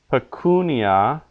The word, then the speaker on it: pecunia: or the rather the second last we'd say suppose so Regina pecunia because the second last syllable in each case is long Regina pecunia but Agricola